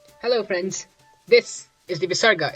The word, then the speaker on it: Visarga: This is the Visarga. It's pronounced as aha. No, I'm just kidding. It's quite literally a breath of air.